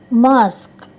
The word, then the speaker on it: mosque: Nah, kata ini sebagian menyebutnya mosque, tapi yang benar adalah mosque, masjid.